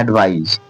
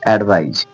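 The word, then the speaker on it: advise: इसमें ए डी और इसमें एस ही लास्ट में है तो इसे पढ़ा जा रहा है एडवाइज एडवाइज देखिए जहां पढ़ा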